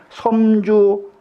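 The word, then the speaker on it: 陝州: 진시활 공의 성은 사마요 명은 광이요 자는 군실이니 섬주 하현이니라.이 이 진심하기라기를이 사마온공의 성은 사마고 이름은 광이라는 거예요.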